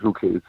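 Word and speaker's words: Ruchè: Here they call it Ruche.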